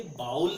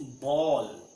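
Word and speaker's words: bowl: ये बाउल नहीं होता दोस्तों। ये क्या होता है? इट्स बॉल। क्या होता है? बॉल।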